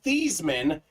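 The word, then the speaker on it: Theismann: about it earlier Colin his name was actually pronounced Joe these men at Notre Dame the pr staff said Joe change her name to Theisman so we could call you Theisman for the Heisman uh so good stuff right there ironically Kenneth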